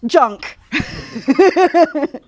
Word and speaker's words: JNK: It's called JNK, which is pronounced junk.